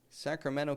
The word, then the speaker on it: Sacramento: Did you hear that? I didn't say Sacramento, California. A lot of people living in Sacramento, California. And you may travel there someday. And so make sure you can say it right.